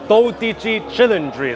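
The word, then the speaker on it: Dodici Cilindri: and gentlemen so this is the all new do chry so I just learned the proper pronunciation from the speech that general manager of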